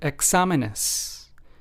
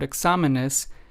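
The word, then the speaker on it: exámenes: So, let's take the example word examenes. In this word, we have the accent on the second syllable, despite this word examenes, examenes, having four syllables.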